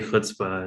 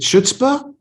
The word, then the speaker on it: chutzpah: Is it chutzpah? No, it's not a ch like chai, like chai tea. It's not a hard K like character or chaos. It's ch, as if you got a chicken bone caught in your throat.